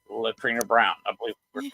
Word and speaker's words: Leitreanna: our guest out right now I hope I'm pronouncing her name right latrina Brown I believe correct just call me